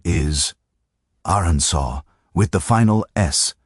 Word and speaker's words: Arkansas: The name comes from a French interpretation of a Native American word and the proper pronunciation reflects that French heritage.